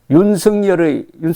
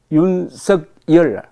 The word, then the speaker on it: 윤석열: 제목이 윤석열 한자로 썼습니다. 윤석열의 정확한 한글 표기는 윤석열이고 발음은 윤석열이다.